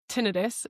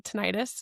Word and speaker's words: tinnitus: Maybe it's tinnitus in the ears. Actually, it's pronounced tinnitus, but nobody says it that way, so I'm going to say tinnitus.